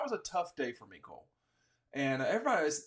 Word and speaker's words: Mecole: but it that was a tough day for mikole and everybody it's not mle it's mikole and like for as much grief as I get for pronunciation I mean people I mean it's Mico